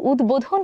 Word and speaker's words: উদ্বোধন: ব এর উচ্চারণ করিনি কিন্তু উদ্বোধন শব্দটিতে আমরা ব এর উচ্চারণ করেছি তাহলে চলুন ব এর উচ্চারণের